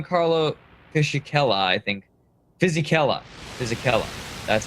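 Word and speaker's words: Fisichella: have the Gian Carlo Fishel I think physella physella that's how it's pronounced uh Sunderland just helping me out in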